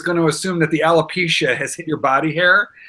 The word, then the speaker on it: alopecia: Well, it's alopecia, not alopecia.